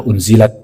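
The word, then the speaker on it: أُنزِلَت: satu kalau unzilat itu kalau kita tulis dalam bahasa Arab itu ada anzalta ada unzilat Jadi hanya beda pengucapan maka kata Rasulullah Sallallahu Alaihi Wasallam ya unzilat artinya diturunkan anzalta engkau ya Allah menurunkan secara maksud sama dan yang benar adalah unzilat dibenarkan Tapi semua maknanya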